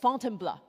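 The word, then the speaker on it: Fontainebleau: So after Paris, Paul took me just outside the city to a forest park for called Fontenbl. This is how he taught me to pronounce to try out our mountain filter.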